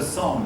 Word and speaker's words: Song: Then came the Song dynasty, the Sung. Actually, I believe it's better pronounced Sung.